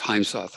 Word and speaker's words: Heimsoth: I think I got your name wrong. It's Heimsoth.